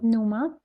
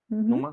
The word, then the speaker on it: Numa: Numa. Numa se pronuncia así.